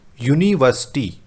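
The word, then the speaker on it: university: यूनिवर्सिटी, यूनिवर्सिटी में य की साउंड है, य क्या है आपका एक कॉन्सोनेंट है, और कॉन्सोनेंट है तो क्या आएगा, ए ही आएगा।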